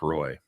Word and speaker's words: Roy: of ever since Patrick Roy left. Yes. See, even I know that's not how you say it. Well, see, I thought you were just going to go along with it. It's Patrick Roy.